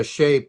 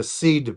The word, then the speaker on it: Sidhe: And so, the Picts were a separate distinct race of the Sidhe people or the Sidhe people, however you want to pronounce it.